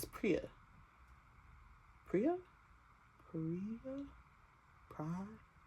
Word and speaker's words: Priya: Pria. Love Pria. She's amazing. I really hope that's how you say her name cuz in my head I've been reading Priya.